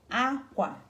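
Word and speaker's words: akwa: Akwe, a. Aqua. Kwe. So these two are together, okay? Kwe, a. Aqua. And aqua is cloth.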